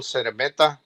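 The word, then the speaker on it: Szeremeta: Yeah, I think Golovkin's supposed to be fighting Camille Seremeta. That's how you pronounce his name.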